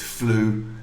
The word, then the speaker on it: flew: We don't pronounce the W.